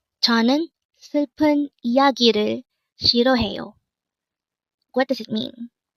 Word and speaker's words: 이야기: 이야기. 이야기. This pronounces a three-syllable word. The first syllable is I, second syllable is ya, and third syllable is gi.